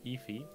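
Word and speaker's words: Aoife: And you say it is in Efi. If. Okay, Yeah, and it's spelled Aofi.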